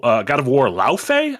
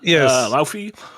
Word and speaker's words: Laufey: Wolverine from Insomniac, and then God of War Laufey, I believe is the pronunciation. Laufey.